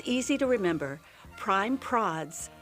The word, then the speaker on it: Prime Prods: Prime Prods rhymes with classy broads.